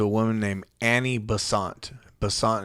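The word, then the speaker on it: Annie Besant: woman named annie bassante bessant is spelled b as in boy e-s-a-n-t and um she ended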